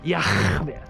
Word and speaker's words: Yah: His name is Yah. That's how you pronounce it. Yah. That's how you pronounce it, folks.